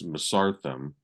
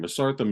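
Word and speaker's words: Mesarthim: you guys that's also from Australia and it's masartham yeah you sent me that really kind of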